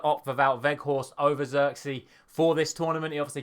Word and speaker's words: Zirkzee: On Sky yesterday, Ronald de Boer said it's pronounced Zirkzee, so I'm sure we'll find out more on how it's properly pronounced over the course of the next few days and weeks. But I'll just say Zirkzee for the point of this video.